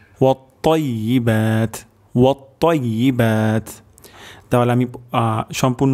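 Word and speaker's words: وَالطَّيِّبَاتُ: আমাদের এখানে ত উচ্চারণ করতে হবে এবং তর উচ্চারণটি মোটা হবে। ওয়াত-তাইয়্যিবাত, ওয়াত-তাইয়্যিবাত, ওয়াত-তাইয়্যিবাত।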